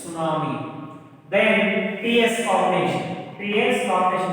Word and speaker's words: tsunami: T is the silent letter. It's not tsunami. It is a tsunami.